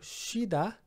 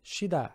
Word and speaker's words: 쉬다: Então temos o verbo 쉬다. 쉬다, aqui apesar de escrever, algumas pessoas pensariam que seria 쉬, mas não. Aqui a gente, é uma exceção de certa forma, a gente vai pronunciar 쉬.